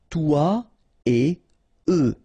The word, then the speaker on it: toi et eux: Okay, and it will be exactly the same thing in this example here. Toi et eux. Alright, so no liaison, even if it's a bit tempting because it would be possible, but then no, no, no, no.